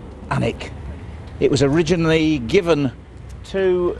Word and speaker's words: Alnwick: It's obviously pronounced Alnwick.